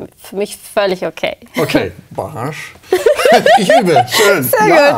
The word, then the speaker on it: Bahar: Also es ist richtig türkisch ausgesprochen, wäre es Baharsh.